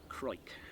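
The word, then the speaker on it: Crawick: And I believe this is pronounced Croik. Yeah. Yep. Croik. Like Hoik.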